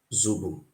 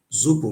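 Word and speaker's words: sobo: me clear you something the word Robo there is not it's not called rubu in our language it's called zuu the pronunciation is this spelling is s o b o zobo zobo mean food for sacrifice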